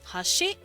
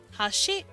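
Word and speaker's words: 橋: it means bridge and if they go Hashi Hashi and they go down Hashi it's kind of like uh those are chopsticks so they they up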